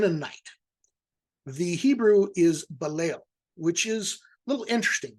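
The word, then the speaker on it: בליל: But balo here is kind of setting a phonetic theme because it alliterates and virtually rhymes with yal, which means they whail,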